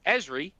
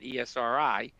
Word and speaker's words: Esri: Not only are there additional geospatial analysis types, not only is there more integration with EZRI, some people pronounce it ESRI, for example, there's macros provided to convert those geo shapes to traditional row column formatted data.